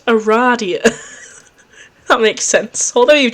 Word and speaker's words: Aradia: another zone that kid you must have said Aries out loud because she immediately corrects you it is pronounced Aradia that makes sense although you've just met you